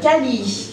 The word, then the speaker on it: Kala: Parce que en malgache, on ne prononce pas la dernière syllabe. Donc, c'est pour ça qu'on prononce Kal.